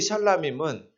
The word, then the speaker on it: 샬라밈: 샬롬 할 때 단수일 때는 앞에 샬롬하고 액센트가 앞에 있었는데요. 평화죠. 뒤에 밈이 붙으면 앞에 발음이 약해져요. 그래서 샬이 셜 된 거예요.